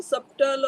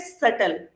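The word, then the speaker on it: subtle: सबटल mention किया है यहां पर बी साइलेंट है तो व कॉल इट सटल ओके और सेकंड में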